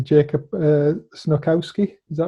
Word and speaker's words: Snochowski: Jacob Snochowski, is that right? Almost. C is silent, so it's Snochowski. But yeah, you've been very close. So Jacob Snochowski.